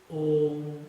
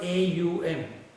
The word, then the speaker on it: Om: And it is Om, and it is not A-U-M. It is not A-U-M. It is Om. You should not chant Aum, then you will sound like a wolf.